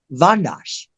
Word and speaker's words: Windisch: the letter R, Windisch, Windisch. It's Austrian, and it's actually pronounced over there, Vandash.